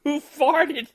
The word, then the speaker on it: Hoof Hearted: a real farewell tour I believe you mentioned hoof hearted brewing on your last episode it's pronounced who farted you see what they did there yeah they